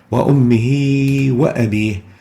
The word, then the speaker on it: وأمه وأبيه: وأمه وأبيه. We pronounce the ha as if it is followed by a ya that is extended or elongated for 2 units.